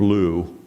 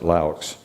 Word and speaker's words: Laux: And so we got, actually he pronounced his name Lou. Around here we pronounce it Laux. I think that's the difference between French and German.